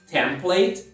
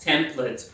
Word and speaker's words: template: mais suave no final, template. Só é importante você, de qualquer forma, fazer a sílaba tônica, a primeira sílaba.